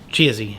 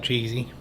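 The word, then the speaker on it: Chizzie: Chizzy, C-H-I-Z-Z-I-E, but I know who you're talking about. Sounds like Cheesy.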